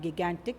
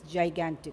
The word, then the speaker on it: gigantic: Next one is gigantic, not gigantic, it's gigantic. You have to pronounce it as gigantic.